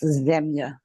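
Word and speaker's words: земља: In Serbia, in Serbian language, it is pronounced ZEMљA.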